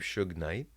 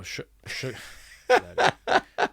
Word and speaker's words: shungite: keep Shug Knight? No, shungite.